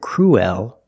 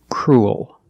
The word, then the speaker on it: cruel: l at the end we do not pronounce it cruel we're not pronouncing the E we're pronouncing the u e together as the sound U crew leaking it to a dark L cruel sounds like pool and cool you have the long